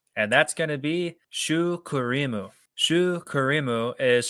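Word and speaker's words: シュークリーム: for cream puff, and that's going to be shu kurimu. Shu kurimu is spelled sh h u k u r i mu.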